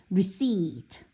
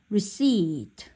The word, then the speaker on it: receipt: 그래서 영수증이라는 단어 여기서 뭐 쓰고서 하나 영수증 receipt 이 단어 어려워하지 말고 근데 제일 중요한 것은 P가 뭐다? 묵음이다. 발음되지 않는 거지.